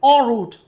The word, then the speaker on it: en route: It is written en route, but its pronunciation is root. Root and also root. Both the meaning or both the pronunciations are correct.